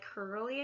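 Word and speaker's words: Kerli: that kind of cyber goth i also like curly i think we felt let's pronounce it like k-e-r-l-i she's pretty awesome i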